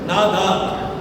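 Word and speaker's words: נדר: நாடார்ல நாதார் போட்டுக்கலாம். உச்சரிப்பு வந்து நாதார்.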